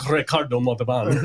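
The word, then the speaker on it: Ricardo Montalbán: That's a great movie starring Ricardo Montalban, who was also on Fantasy Island. Roll your R's on that, sir. Sorry, I'm so pale. I'm such a white dude. Ricardo Montalban.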